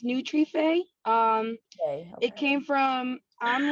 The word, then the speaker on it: Nutrife: why don't you first start telling us about neutral did i say it right it's pronounced nutrife um it came from i'm latina uh and